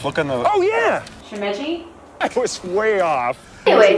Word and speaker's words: Shimeji: Shimeji. I was way off. Anyways, Mushroom. it's spelled S-H-I-M-E-J-I.